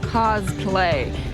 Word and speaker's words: cosplay: Tons of people are engaging in costume play, or cosplay, because apparently the third syllable is just too much.